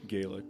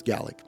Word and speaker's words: Gaelic: Gallic. Preacher. Get it right. Yeah. Gaelic. Yeah. Yep. Well, we in America say Gaelic, but Yeah. Gaelic. Yeah. That's because we're saying it wrong. Okay, that's fair. It's Gallic.